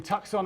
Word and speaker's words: Tucson: And also this week, the players have been in Tucson, Arizona, which is the English pronunciation.